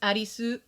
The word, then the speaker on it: Arisu: from the main character his name is arisu which sounds like alice to that's how you would pronounce if you were in japan trying to pronounce the name alice that's what it would sound like in japanese so um and then